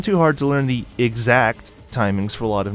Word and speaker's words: EX Act: This technique is called EX Act, which I have realized while writing this, 15 years after release, is probably meant to be pronounced exact.